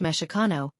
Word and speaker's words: Mexica: There are a few theories about the origins of chano, including that it comes from Mexico, pronounced meshano, a word that some groups of nawas, indigenous